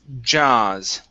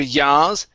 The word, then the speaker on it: jaws: This is jaws. Okay, instead of yaws, picked up the jaws.